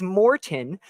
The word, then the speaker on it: Maurten: it is Maurten, but when you actually look so it's a namesake, actually.